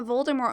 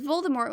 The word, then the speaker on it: Voldemort: of harry potter's audiobooks appropriately pronounces voldemort with a silent t that t isn't silent